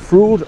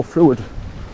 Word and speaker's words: Fruid: I don't know if you pronounce it Frood or Fruid, because it's F-R-U-I-D, Frood.